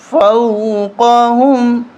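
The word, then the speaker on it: فوقهم: طرح نہیں پڑھیں گے، فوقہم، جھٹکا بھی نہیں دیں گے، فو اس طرح بھی نہیں پڑھیں گے، بلکہ اس کو آرام کے ساتھ فوقہم، فوقہم، صافات ویقبضن۔ یہاں پر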